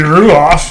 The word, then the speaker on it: Ruoff: You've got, I can never pronounce it, Ruff. I don't know. There's the Vogue. I say Ruoff. It's gotta be Ruoff.